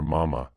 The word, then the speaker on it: Mama: myself firstly she and her mama as she called her with the accent on the first syllable were all in all